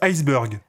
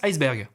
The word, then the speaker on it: iceberg: Ça se prononce iceberg. Ah non, ça se prononce iceberg. T'es sûr? Ah ouais, certain. Mais on dit bien burger. Ouais, mais ça s'écrit pas pareil.